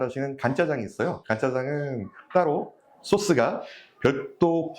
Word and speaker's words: 간짜장: 간을 맞춰서 간짜장이라고 생각하는데 사실은 마를 건자를 써서 건짜장이에요. 전분을 넣지 않고 조금 더 마른 스타일로 나온다라고 해서 건짜장이 간짜장으로 발음이 됩니다.